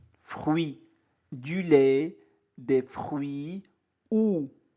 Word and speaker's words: fruit: U-I se prononce oui. Fruit.